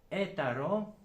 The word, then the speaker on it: eta: In archaic Greek alphabet is heta, which is the same with later eta, because Greek language suffered change throughout ages, millennia, and is named suffers these changes. Eta, eta, and now is pronounced E.